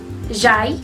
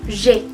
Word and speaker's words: j'ai: Entonces, yo les explicaba que yo no había pronunciado j'aille, sino je, que la A y la I se pronuncian como una E.